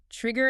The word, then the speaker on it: trigger: The G sound is a hard G, like in the word go.